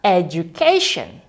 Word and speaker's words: education: Jadi, bacanya ialah education.